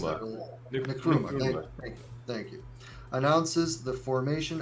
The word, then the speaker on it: Nkrumah: 1949, Kwame Nkrumah, or Nkrumah, I can't pronounce that really. Nkrumah.